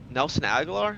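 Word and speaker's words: Agholor: before it was uh Nelson agar that's how you say his name he was uh Lamar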